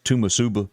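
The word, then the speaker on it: Toomsuba: So have you ever bumped into anybody that cannot pronounce Tomb Suba and it's Tumasuba?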